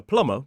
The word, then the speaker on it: plumber: with lead because a plumber would work with lead pipes. And notice that the B in plumber is silent.